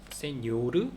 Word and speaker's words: señor: 그래서 세뇨르, 세뇨라, 세뇨리타, 도냐 할 때 n에 앞에 위에 물결이 있어요. 그래서 세뇨르, 세뇨라, 세뇨리타, 도냐 뭐 이런 식으로 발음을 한다.